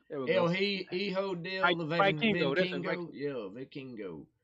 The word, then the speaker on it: Hijo del Vikingo: But Like, anyway, starting out the pay per view, you got Commander and El Hilo Vinkingo. There we El go. Hijo del Vikingo.